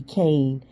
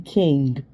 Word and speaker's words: King: I was a whole grown up when I realized his name was not Eddie Kane, as in Caine or Kane. It's Eddie King. But the way they pronounce and enunciate the name, it sounds like it's saying Kane, but his name King.